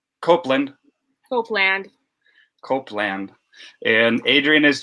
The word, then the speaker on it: Copeland: copeland how do you say your last name copeland copeland hopeland copeland and adrian is joining us all